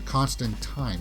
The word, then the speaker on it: Constantine: returned in new post yes there's a constant time although it's not Constantine they pronounced it constant time of this right Joanna Constantine in a